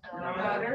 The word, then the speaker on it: daughter: Daughter. Or daughter. Daughter. It's not doctor, it's do, do, the the schwa sound. Is British English, we use lots of schwa sounds.